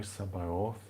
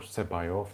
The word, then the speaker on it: Sabaoth: There's a mantra for it, the Kadosh, Kadosh, Kadosh Adonai Sabaoth, or Sebaoth, it depends how you want to pronounce it.